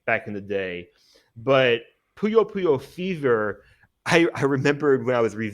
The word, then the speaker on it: Puyo: Puyo, is it Puyo or Puyo? Puyo. I think it's, yeah, Puyo Well, Puyo is anyway, how I Sega would say bought it.